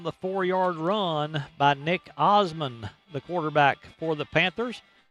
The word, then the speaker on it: Osman: the touchdown on the foury Run by Nick Osman the quarterback for the Panthers pronounced like the Osman family the singers but